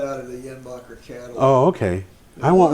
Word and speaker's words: Jenbacher: So I got a picture of uh the the GE Jenbacher engines. Yenbacher. That J is like a Y. Yeah. Yeah. Yenbacher.